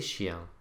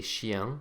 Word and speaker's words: chiens: Now notice that the S that we've put on the end of each of these words to make them plural, as we've already seen, is silent. Les chiens, les filles, les hommes.